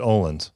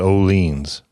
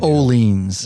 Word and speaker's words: Orleans: video and stuff because I always said Owens yeah so did I before you educated me then I started yeah paying attention to their actual um language social media and videos that all leans is putting out and they pronounce it oleans yep I still get lazy on it sometimes but it's oleans yeah yep good question